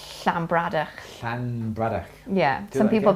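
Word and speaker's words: Llanbradach: b r a d c h and it's slambradar yeah some people pronounce it lambrada because it starts with a double l but it's shambrada so double so um uh lake in welsh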